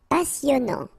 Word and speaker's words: passionnant: Passionnant. Okay, here you pronounce the double S because you get a vowel, so it's really a strong one. Passionnant. Final T not pronounced, and then here you get this en sound. Passionnant.